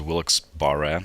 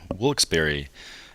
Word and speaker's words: Wilkes-Barre: that city name uh at first i thought it was wilkes-barre for some reason but um i looked it up on wikipedia and apparently it's uh wilksberry it shows how much